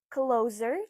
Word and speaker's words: clothes: Everyone knows that this is clothes or close. It's closer to close.